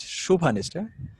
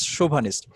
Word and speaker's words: chauvinist: hypocrisy of the male chauvinist shubhanes the pronunciation is chauvinist that means the term